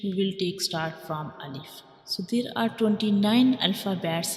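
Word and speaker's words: ألف: So Alif is pronounced from the empty space of mouth.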